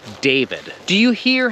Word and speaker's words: David: you will remember that the i is not pronounced e so there were two